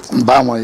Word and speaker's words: Mbama: And then Mbama. Did I say it right? Mbama, yes. Mbama.